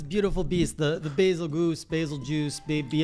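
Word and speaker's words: Bazelgeuse: Turns out it's, probably gonna pronounce this wrong, a basil juice. It sounds like Beetlejuice.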